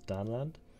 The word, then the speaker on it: Danland: So quite originally, I put it as Danland, pronounced like Finland, kind of.